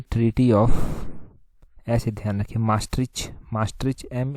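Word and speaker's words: Maastricht: यहां पर देखिए ट्रीटी ऑफ ऐसे ध्यान रखिए मास्ट मास्ट एम A double S एस टी आर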